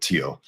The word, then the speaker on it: Theo: Um, Tio Vango and it's it's pronounced Tio. It's spelled Theo, but Tio.